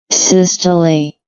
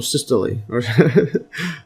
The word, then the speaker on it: systole: Systole. Or systole.